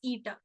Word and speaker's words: eta: This symbol is actually pronounced as eta.